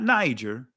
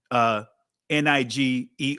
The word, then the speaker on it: Niger: So it wasn't Niger. It was Niger with a hard G, not a soft G. All right. Not the J sound.